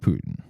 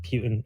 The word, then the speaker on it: Putin: i wanna let's talk let's talk about putin who i've recently learned you pronounce like putin or something like that i'm learning a lot of with this yeah it's kind of like a rasputin so it's like putin as in oh rasputin what